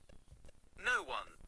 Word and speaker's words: Noone: No one pronounced noon.